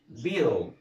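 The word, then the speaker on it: beetle: وبعد كده عندنا بيدل. بيدل اللي هي ايه؟ المخنفسات. طيب يبقى عرفنا كده ان حرف ال اي او اي كلمه بتنتهي ب ال اي، ها، بعمل ايه؟ بضم اللي قبل الايه؟ ال. طيب في عندنا كلمات تانية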